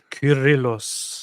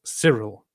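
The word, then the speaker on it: Kyrillos: Curillos. Oh, yeah. That's a K. Curillos. Curillos. Alexandrias. So if now in the English-speaking word people pronounce it as sirill because they uh pronounce the C as both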